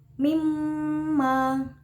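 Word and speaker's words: مِمَّا: Ada bacaan gunah musyaddada yaitu mim ditasjidkan, jadi membacanya harus ditekan dan didengungkan. Mimma.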